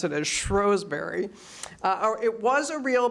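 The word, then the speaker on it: Shrewsbury: Benedictine Abbey in what I always read as Shrewsberry they actually pronounce it Asberry uh it was a real Benedictine ABY they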